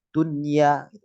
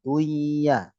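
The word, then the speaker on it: دنيا: artinya contoh di sini kita bacanya Dunya bukan Dya Dunya kemudian itu kemudian Tala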